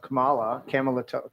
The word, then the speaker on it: Kamala: And lo and behold, within 2 days of Kamala, what the fuck's her name? don't say it wrong. Kamala. Oh, my bad. I keep Camilla.